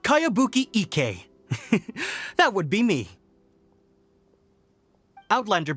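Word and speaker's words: Kayabuki Ikkei: new one i've never heard of it by cowabunga icky mia this is a really strange name who's this cowabunga it's pronounced kayabuki ek that would be me outlander brigade is a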